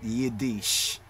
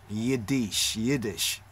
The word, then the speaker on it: Yiddish: hebrew is not yiddish yiddish is not yedish yiddish hebrew as what people